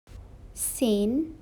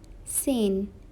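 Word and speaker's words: zehn: is 9 in german sane sane it is 10 in german you should focus on the pronunciation of z it is 11 in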